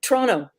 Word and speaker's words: Toronto: Now you are you hail to us from Toronto. Yeah. We were having a good time how to pronounce that earlier backstage. Pronto, Tonto, something like that. No, it's Toronto. You don't pronounce the last T.